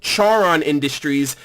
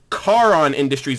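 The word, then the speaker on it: Charon Industries: me on that it's actually not pronounced Charen industries it's pronounced karaan industries and I really hope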